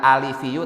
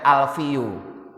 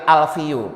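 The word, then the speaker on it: ألفُ: kada saya Awas hati-hati ini banyak orang yang salah baca bukan alivu Tapi bacanya alvu nya itu tidak di Harusnya kan dikasrah tapi malah dibaca sukun Jadi bukan alifiu tapi alfiu kalau Alfi artinya 1000 berarti maknanya hidungnya Rasulullah ada 1000 salah kan yang benar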